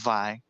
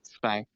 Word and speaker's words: Zwei: His name is pronounced Zwei. It's German. Zwei? Oh, Yeah, okay. Zwei.